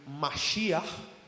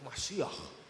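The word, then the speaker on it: מָשִׁיחַ: Cuando las escrituras del Antiguo Testamento, en las originales, en los hebreos, tú leías el término Mashiach, porque es como se pronuncia. A los mesiánicos les encanta esto, Mashiach.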